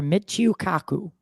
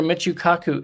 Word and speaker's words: Michio Kaku: Michio Kaku. Dr. Michio Kaku is correct.